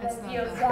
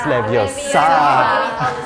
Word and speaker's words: Leviosa: It's not Leviosa. It's Leviosa. Leviosa. In Italy, we say Wingardium Leviosa.